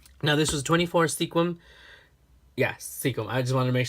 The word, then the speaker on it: Sequim: lavender haul from the Sequim Lavender weekend, or Sequim Lavender Festival. Now, this was 24 Sequim. Yes, Sequim. I just wanted to make sure I don't mispronounce it, because there's a lot of names